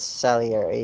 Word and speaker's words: Salieri: i'm just for everyone it's salieri it's uh italian but yeah so first